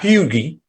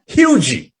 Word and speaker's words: Hugee: waters is deshawn hugee not fugi not huggy hugey is how you pronounce his name he's he's a senior